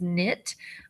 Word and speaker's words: knit: Here's your KN. K is silent. So this is knit.